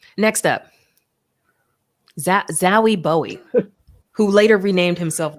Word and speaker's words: Zowie: It's Zowie. Zowie Bowie. That's dumb. Like you lose points for that. If your last name is Bowie, your first name you gotta pronounce that Zoe. It's Zowie Bowie, obviously.